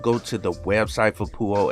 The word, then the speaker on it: Peux: poo dash os and i hope i'm pronouncing it right but based on what google stated when i put it in there and played the audio for pronounce for the pronunciation for the actual word it said poo which is kind of